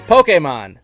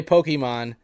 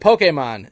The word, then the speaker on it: Pokémon: It's Pokemon. That's how you say it. Pokemon. That's the correct way. That one I've known. Sometimes I slip and say Pokemon, but it but Pokemon is how you say it.